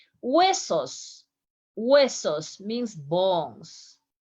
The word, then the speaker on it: huesos: Remember, the H doesn't sound in Spanish. So listen my pronunciation in the next words. You are going to notice that I almost make no sound when I pronounce the letters.